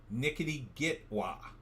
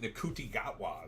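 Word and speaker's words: Ncuti Gatwa: Bez from the Sultans pronounces it Nickety Gitwa. I pronounce it Nkuti Gatwa, but I've heard many different pronunciations.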